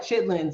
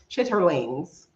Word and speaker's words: chitterlings: if it's intestines it's we would call that chitlings or chitterlings if you pronounce all the letters chitterlings in the US and no I don't